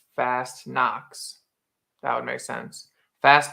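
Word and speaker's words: Fastnacht: So fast knots, fast knots pronounced fast knocks.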